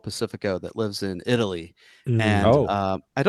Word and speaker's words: Pacifico: oh, it's released in Pacifico, and it's sure. And so many people call it Passy Records or Pacific Records. Like I get it. But it's not that hard.